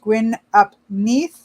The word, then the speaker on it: Gwyn ap Nudd: The horned god, master of the hunt, even Gwyn ap Nudd, pronounced Gwyn ap Nith.